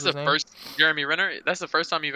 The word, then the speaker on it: Jeremy Renner: that's the first time i've ever seen uh jeremy rayner was how you pronounce that's the first jeremy renner that's the first time you've ever seen him